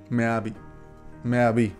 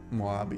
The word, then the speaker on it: Moabi: Meabi, como se pronuncia. Moabi.